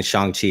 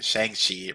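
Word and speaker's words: Shang-Chi: you have shang chi i gotta get used to saying shang chi because obviously he like literally corrected everybody in the movies yeah like this is not how you say it you say i love that i love that because all my life i've been saying the shank sheet right exactly um but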